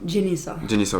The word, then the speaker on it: Jennyssa: Jenissa, Ok. je sais même pas comment prononcer mon nom.